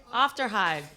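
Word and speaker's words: Aufderheide: You can't pronounce her name either, can you? Thank you. Afterhide.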